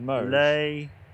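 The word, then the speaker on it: Limoges: s oh no no oh what was it no the mo lay it's a soft G NE Mo yeah MO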